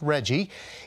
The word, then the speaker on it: RGGI: Governor Glenn Youngkin is pulling Virginia out of the Regional Greenhouse Gas Initiative, RGGI, pronounced REGGIE, is a multi-state agreement to limit carbon emissions and reduce greenhouse gas effects.